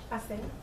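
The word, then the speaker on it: hacer: So H is always silent. Still be- Right. Okay. So let's take a look at some. So you'd say, for example, we have the word Aser. Aser. So you say aser. Aser. aser. Aser. Aser. No H in front.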